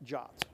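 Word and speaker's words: JWT: option to do that is Json web tokens pronounced jots I often say jot tokens which is the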